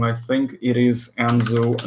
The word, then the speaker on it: Anzu: I think it is Anzu, not Asnu. Hold on, let me check. Wait, hold on a second. Yeah, it is Anzu. It's not Asnu. It's Anzu. Yeah. There we go.